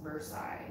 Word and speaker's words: Versailles: Jason Walker, Versailles in Ohio is pronounced Versailles.